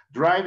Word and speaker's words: drive: do de hacer, doing, drive de manejar, y aquí sí ya tiene su truco, como la E es muda, es drive, no se